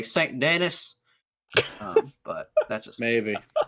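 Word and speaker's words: Saint Denis: in Red Dead like all say like Sandin, which is like stuff like the most French name ever. Like they say it correctly. I feel like if you were a cowboy, you'd say St. Dennis.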